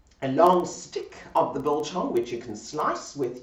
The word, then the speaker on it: biltong: I've got to say it right, biltong.